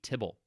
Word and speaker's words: tibble: Now, if you wonder why it's called tibble, try pronouncing the abbreviation TBL, which is if you took the word table and removed all of the vowels to abbreviate it. Try pronouncing that out loud a few times.